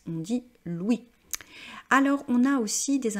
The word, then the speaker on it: Louis: il s'appelle Louis et vous voyez qu'on ne prononce pas la dernière consonne on dit pas Louis on dit Louis alors on a aussi